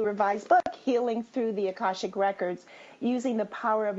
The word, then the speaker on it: akashic: to those who have never heard of the akashic records first of all am I saying it